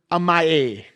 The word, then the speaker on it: amae: And it's connected with this term, amae. I really am positive that's probably not how you pronounce that, but M-I-A, A-M-A-E.